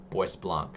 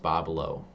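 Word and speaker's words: Bois Blanc: heading towards that island, people said it's pronounced Bobo. I didn't I don't believe it still, but everyone kept correcting us, so that's what we're going with.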